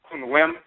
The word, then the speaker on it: Khnum: We pronounce it Kunwem because instead of Khnum, because in the Akan language, Okuk Kunwem means a potter.